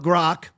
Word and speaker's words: Grok: So I pulled this off of Grok. Finally saying it right, Aaron. I finally stopped saying like Gronk, like Gronkowski.